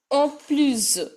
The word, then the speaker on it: en plus: En plus. Last S is to be pronounced as Z.